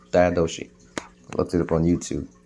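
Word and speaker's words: Diadochi: known as the diosi d i a d o c h i i pronounce it correctly no daoshi diosi looked it up on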